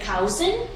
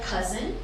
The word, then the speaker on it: cousin: and this is where a lot of people say cowson it's not ground cow its cup of mustard cousin and we can also